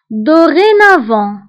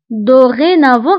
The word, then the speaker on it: dorénavant: من الآن فصاعدا دورينافون فبالنسبة لدورينافون هنا أيضا أو نكتبها بأكسون إيغو وبالنسبة للتي فنكتبها في آخر الكلمة ولكن لا ننطقها فقلنا بالنسبة لديزورمي ودورينافون